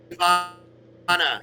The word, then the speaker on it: Davana: Davana. It's Elven. Horn of Davana.